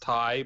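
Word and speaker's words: Tay: that combined is confusing because it is pronounced thai but tj is a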